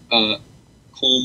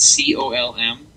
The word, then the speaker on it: Colm: His name is Colm O'Driscoll, but that's not how you say it. It's C-O-L-M. Okay. And it's actually pronounced Colm.